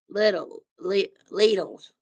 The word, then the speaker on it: Lidl: I like Lidl's or Littles, whatever you want, how you want it's pronounced Lidl's.